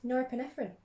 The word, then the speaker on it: norepinephrine: you say it how do you say it norepinephrine that's how you say it cytocholine increases norepe